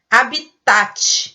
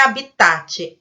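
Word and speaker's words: hábitat: Aí você vai lá e coloca a sílaba tônica no tá, que paroxítona. Mas não é habitat, é habitat. Habitat. A sílaba tônica é o A. Leva acento e é uma proparoxítona.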